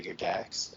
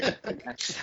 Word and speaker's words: Gygax: And notice how I said that like I was totally educated, Gary Gygax. Instead of Gary Gygax. Like that's the proper way to pronounce that.